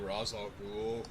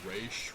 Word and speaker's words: Ra's al Ghul: You mean Ra's al Ghul? Or they pronounce it Raish, which I think is the wrong way, but still.